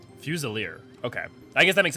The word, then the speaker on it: Fusilier: I just realized that I don't think I've ever actually checked how to pronounce that. I want to make sure I'm getting. Fusilier. Fusilier.